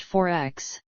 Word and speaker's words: XXXX: an australian-like continent is named XXX pronounced 4X xxx's labels generally feature